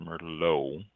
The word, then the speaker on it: Merlot: The T is silent, pronounced Merlot.